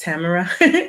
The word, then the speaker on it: Tamara: There were unexpected, heartfelt moments that was shared, and I appreciate Tamara, pronounced Tamara.